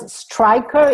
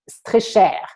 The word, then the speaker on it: Streicher: I pronounce it Streicher. It's easier because in the US, not everyone can use the French way, which would have been Streicher.